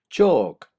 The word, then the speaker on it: chalk: walk halt maltt salt chalk stalk talk and walk you cannot hear the L being pronounced halt maltt salt of